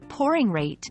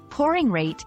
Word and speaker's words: pouring rate: Pronouncing pouring rate clearly is important. Focus on the OU in pouring, which sounds like ow in how, and the ate in rate, which sounds like ate.